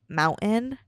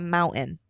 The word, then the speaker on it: mountain: I don't really pronounce my T's as sharply as I think they're supposed to be pronounced. Case in point, mountain.